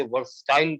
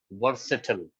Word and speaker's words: versatile: 99% पढ़े लिखे लोग भी इसे वर्सटाइल पढ़ते हैं, गलत। The correct pronunciation of this word is वर्सेटल, वर्सेटल, नॉट वर्सटाइल, that is totally wrong, ठीक है।